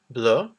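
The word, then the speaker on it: bleue: So we have the word bleu for blue, bleu. The extra E is for if it becomes feminine. The pronunciation is the same though.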